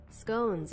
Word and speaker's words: scones: i confirm you both pronounce scones as if it rhymes with ones not like a posh person brummies and northers unite